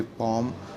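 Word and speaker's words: palm: जैसे पाम हम कहते हैं पाम लिखा होता है हमारे पास PA'LM पाम. ठीक है. या हमारे पास ऐसे लिखा होता है कि P'A'M पाम. L इसमें साइलेंट होता है.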